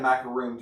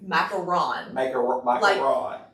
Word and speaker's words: macaron: mac they had a macaroon tire and it was beautiful and it was great because the bride didn't like cake but i pronounced that wrong right it's like random macaron like mac iran but there is a